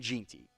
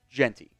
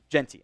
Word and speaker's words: Jeanty: Previous videos I was definitely saying Jeanty, but I think today I was saying Jeanty, which I believe is how it is supposed to be. So that was on me for not looking up the pronunciation and seeing Gene and thinking that's how it was pronounced.